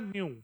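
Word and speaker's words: ν: एच एच की न्यू न्यू, वो symbol है, symbol न्यू न्यू न्यू pronounce है न्यू, ठीक है, न्यू।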